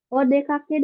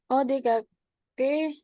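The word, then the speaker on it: お出かけ: Di sini kalau menanyakan ya, mau keluar, odekake desu ka? O- Odeka, odekage desu ka?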